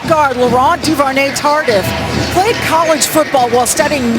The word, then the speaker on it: Laurent Duvernay-Tardif: Love the way you pronounce that name. Michelle, give it to me one more time. Laurent Duvernay-Tardif.